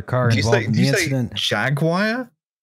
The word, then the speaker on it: Jaguar: Look, I accept that Jaguar might be a fucked pronunciation of, like, the animal, right?